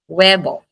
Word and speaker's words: huevo: It is always silent. Por ehemplo wevo the word weevo. Web weevo silent H. Webo for letter J.